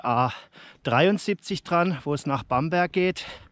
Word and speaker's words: Bamberg: es nach Bamberg geht oder Bamberg wie glaube ich die Einheimischen hier sagen ich glaube das hört dann eher wie so ein ch hinten ausgesprochen regional sind ja die Dialekte hier in Bayern recht unterschiedlich ich glaube hier wird auch viel mit la hinten am Ende geredet Endungen die hört